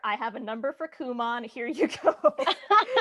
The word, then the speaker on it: Kumon: I was like, I have no idea how that's pronounced, and you thought it was like, come on.